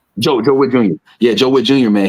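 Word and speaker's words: Joe Whitt Jr.: Joe Witt Jr. Joe Witt Jr.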